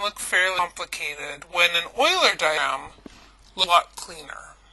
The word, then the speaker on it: Euler: diagrams make a note his name is pronounced Oiler not youer but Oiler so I want to